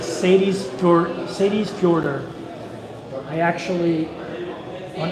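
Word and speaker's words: Seyðisfjörður: chat on Instagram and taught me how to say the name of that city which is Sadie's daughter so spelled like s-e-y-d-i-s-f-o-r-d-u-r I believe Sadie but plural Sadie's Sadie's shorter which upcoming places will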